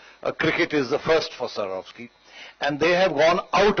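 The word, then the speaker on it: Swarovski: Sarov scheme last year i tried desperately to pronounce this word and this year i was told just a Sarov ski so there it is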